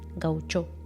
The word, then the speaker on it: gaucho: Hablamos de vida pastoril, de campagas, de la etimología brasilera de la palabra gaucho, que algunos viejos orientales también pronuncian gauchó.